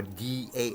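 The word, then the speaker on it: Dao: around my writing is the whole Dow t a o tow some people say tow or d a o da so now on my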